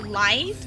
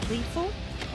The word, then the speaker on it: Life: game used to be actually Life, not Lifu. But since I played on Asian servers competitively since I was in Asia, they had a difficulty pronouncing the word Life. So in comms, they kept on constantly screaming Lifu instead of Life.